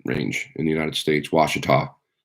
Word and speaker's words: Ouachita: in the United States Washita yes that's how you spell it Washington I rest I'm sorry that's how you say it wash it off it's